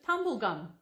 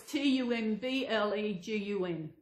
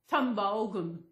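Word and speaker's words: Tumbulgum: I mean, it was, it's ages since I heard anyone say tumblegum. The way she pronounced it was T-U-M-B-L-E-G-U-M, which is not the correct way to pronounce it. It's tumblegum, tumblegum. T-U-M-B-U-L-G-U-M, tumblegum. I'll put it up on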